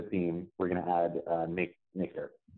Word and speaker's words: mkdirp: And we will need, I don't know how people actually pronounce this, but I heard somebody say make derp, and it made me smile.